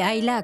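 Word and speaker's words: Islay: le lock NES etil disley prononcé AA comme le font les gens du coin et son célèbre whisky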